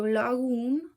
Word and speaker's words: lagun: So lagun, again, G, lagun, so that's soft G.